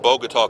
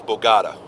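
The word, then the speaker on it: Bogotá: early ' 80s he couldn't say the word bogat Columbia it was always Bogata he could not pronounce the word bogat to save his life I'm dealing with a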